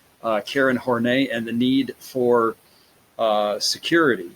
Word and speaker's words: Horney: were next is Karen Horne a is how that's pronounced believe it or not I'm not just inflecting it that way that's actually how it's pronounced Karen horney and the need for